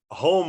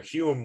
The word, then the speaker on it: Home: was caught cheating uh home was or rather hume was never caught cheating